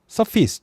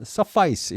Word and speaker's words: suffice: 저변이 나서 렇게 변했듯이 여기도 F에 영향을 받아서 서로 변합니다 suffice 또는 suffice 이렇게 발음합니다 suffice 하면 충분하다가 됩니다